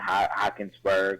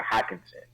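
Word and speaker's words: Hockenson: I hope that their tight end Hawkinsberg, I think is how you say it, Hawkinson. That's how you say his last name.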